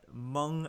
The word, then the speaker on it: Hmong: wife of Derrick Chauvin is among American I'm pronounce it right Hmong American which is an ethnic group from Southeast